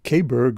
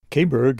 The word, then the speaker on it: Caberg: Kberg, as we seem to pronounce it in the US and the UK, is an allalian motorcycle